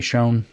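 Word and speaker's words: Schön: education Donald shun shern it's spelled like the word for beautiful in German but it doesn't have an umla I don't know what we're doing with this shown s-c-h-o-n we're going to say shown it's probably not right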